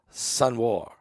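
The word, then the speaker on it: Sinwar: a r sen War I think you say it sun War he is The Mastermind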